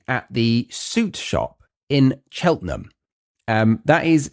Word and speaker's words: Cheltenham: Let's start this story at the suit shop in Cheltenham. Um that is spelt Cheltenham, or looks like it would be pronounced Cheltenham, but pronounced Cheltenham. Cheltenham.